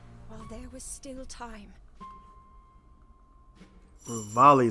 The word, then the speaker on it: Revali: Revali is how you say his name.